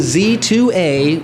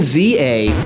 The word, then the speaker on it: Z-A: title of this game it is Legend Z2 a or Z through a not Legend Za a not Legend zah not Z zebra or pizza although the latter two